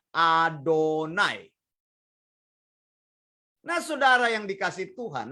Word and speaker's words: YHWH: Kita membacanya Adonai.